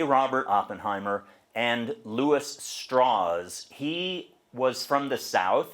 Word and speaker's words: Strauss: Robert Oppenheimer and Louis straws he was from the south he grew up in Virginia and he always wanted to have the name pronounced straws even though it's spelled the same as Leo Strauss and Levi Strauss s-t-r-a-u-s-s